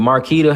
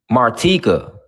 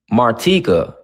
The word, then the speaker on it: Martika: Is it Is it Marquita? How am I supposed to pronounce it? I don't want to butcher your name. Martika. Martika. That's what it is. I'm sorry. My bad. It's It's Martika.